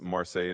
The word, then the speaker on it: Marseille: Marsi how do you say Marseille? It's in France, no? Yeah, exactly. It's Marseille in France.